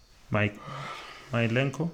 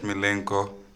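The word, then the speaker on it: Mykolenko: Milenko? Is that how I pronounce his name? Milenko. Yes, the Everton defender.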